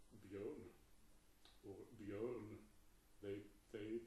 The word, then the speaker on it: Björn: They pronounce not Björn or Björn. They pronounce it Björn. So it's the in a Björn, Björn, Björn. It sounds really funny. So it should be Björn.